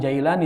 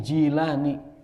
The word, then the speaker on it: Jilani: Sebenarnya bacanya bukan Jailani tapi Jilani. Yang benar bacanya itu Jilani karena beliau orang Jilan.